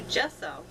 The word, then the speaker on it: gesso: I've tried everything from Mod Podge to gel medium to gesso.